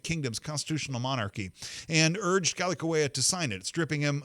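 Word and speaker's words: Kalākaua: In 1887, the King Kalakaua, I think is how you say that, King Kalakaua, his interior minister, was an American lawyer, and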